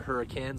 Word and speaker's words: Hurricane: spelled hurricane but us locals out here actually pronounce it hurricane so just roll with it for me but